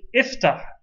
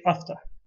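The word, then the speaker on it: افتح: you say isma foreign you say ifta open you don't say afta and the reason for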